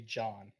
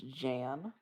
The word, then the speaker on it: Jan: a problem with with how caillou pronounces my name j a anne and he calls me john and i don't get it sorry about that i i see now why it so it's jan i mean my real